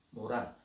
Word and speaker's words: 모란: 모란 모란이 한문으로 이렇게 쓰거든요. 목단.이 이 목단은 목단이라 읽지 않고 모란이라고 읽는다.이 두 개가 나와 있어요.